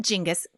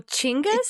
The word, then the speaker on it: Genghis: on genghis han uh or not jingus chingus khan oh chingas chingas khan like a ch yeah yeah at least